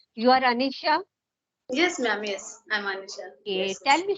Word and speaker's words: Anisha: me something about you Anisha ji am I pronouncing your name correctly you are Anisha yes ma'am yes tell me something about you